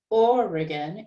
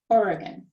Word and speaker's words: Oregon: the place is oregon that's south of seattle or again it's got three syllables and it's the first syllable that is higher and longer that is stressed or again oregon but particularly it is